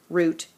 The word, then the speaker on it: route: take this route now some people me included don't usually pronounce this route I pronounce this route this is still considered a homophone because both pronunciations are correct root and root all right after you've